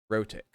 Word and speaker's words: rhotic: about in the chat am i pronouncing that correctly r-h-o-t-i-c rotic i was not pronouncing it correctly pronouncing the r at